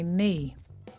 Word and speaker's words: knee: No, I can't climb up there because I've hurt my knee. Well, climb has a silent B at the end and knee starts with a silent K.